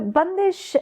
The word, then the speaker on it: Bandish: So bundish uh it's spelled bandish but it's pronounced bundish as you're so rightly